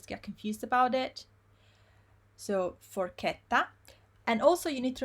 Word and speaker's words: forchetta: I just told you before that CHE, we pronounce it as ke, right? Here is a word with ke. Forche, I'll write it capital so you can see properly. Forchetta, forchetta.